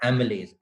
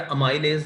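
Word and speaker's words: amylase: एमिलेज। एमिलेज enzyme है जो starch पे एक्ट करता है। ठीक हो गया। एमिलेज या अमाइलेज, जिस तरह आप इसको आपके लिए इजी हो इसको प्रोनाउंस करने में, ये जो है ये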